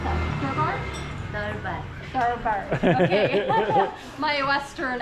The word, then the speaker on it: Durbar: How do you pronounce that? Durbar? Durbar.